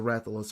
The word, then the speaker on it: Rathalos: But other than that, And it's just the Rathalos I what really mainly Zard, wanted. yeah, What? you pronounced it correctly.